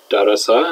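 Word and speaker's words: دَرَسَ: but it wasn't one dosa is pronounced derasa in the past yeah juice in the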